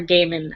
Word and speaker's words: Gaiman: Tolkien and Neil Gaiman, and my name is like right under Neil Gaiman's. So, or Gaiman, I don't know how you say it.